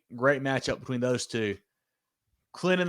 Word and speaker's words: Clinton: Clinton the T is silent.